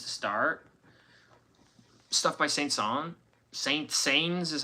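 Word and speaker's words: Saint-Saëns: Son, Saintings is how you spell it, but pronounced Son and then France Fron Strauss.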